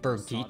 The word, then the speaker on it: Birgitta: Birgitta Skugieheim's most Birgitta.